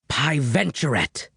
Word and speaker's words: Piventurate: Pie, like, the delicious dessert. Ven, like vent, with no T. Chur, like churro, another delicious dessert, but with no O. And rat, like the rodent.